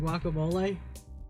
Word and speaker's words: guacamole: I didn't realize people pronounce the G in guacamole. Guacamole. I used to think it was like a silent, like "w" sound just at the beginning.